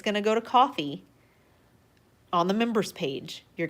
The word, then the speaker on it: Ko-fi: It is pronounced coffee. We are changing the world one pronunciation at a time. It is coffee. It is not Kofi or Ko-Fi.